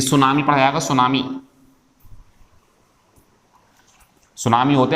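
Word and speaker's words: tsunami: और भी होते हैं, जैसे एक शब्द सुनाऊं मैं आपको, ये सुनामी, ये जीके में पढ़ लिया होगा आपने, टी साइलेंट होता है इसके अंदर।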